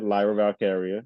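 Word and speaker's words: Lyra Valkyria: ladder match we have Chelsea Green uh uh lra valkyria is that how you pronounce it yeah yeah yeah Lyra valkaria uhhuh Naomi Naomi uhhuh Tiffany Strat Zoe Stark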